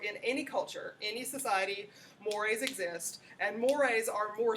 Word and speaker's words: mores: yeah so it's just like one word but mores is how you pronounce it okay and this is behavior attitudes